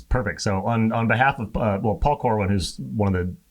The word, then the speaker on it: Pahl: And this works out great because my last name is Paul. Right. So Paul, this is for you. Mine is spelled a little bit differently. I'm Pahl, but I'm Jennifer Pahl.